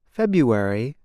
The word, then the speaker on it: February: the word for example the month February is said like this February the R is not pronounced instead speakers make a yaw sound now you try it